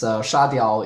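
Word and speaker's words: 砂铫: The pronunciation might sound very weird to some of the Chinese speakers. It's a synonym to like dum dum or dummy, but it's spelled sand,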